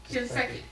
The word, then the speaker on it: Shinseki: She previously served as a White House Fellow in the Office of Secretary Eric, and how do you pronounce his last name? Shinseki, at the Department of Veterans Affairs, and a